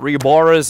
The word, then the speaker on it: RyuUboruZ: I pronounce it Reboras, as it's probably the easiest way you can find him over on Twitter.